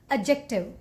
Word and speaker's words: adjective: one and detective no the correct way to pronounce this word is adjective adjective even that mid is you need to make make very very slight D even now D the Ju j sound adjective adjective what about this